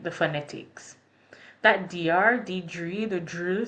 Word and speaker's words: Diedre: My name is Diedre. My name will forever be mispronounced in French. So my name is Diedre, and in French, that is Diedre.